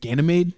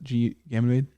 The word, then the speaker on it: Ganymede: And apparently, is it Ganymede? I can never pronounce it. Ganymede.